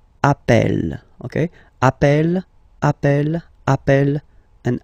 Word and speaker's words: appelle: So when you get this E vowel, and then you get a double consonant, and well, they are the same, then it does change the pronunciation of E.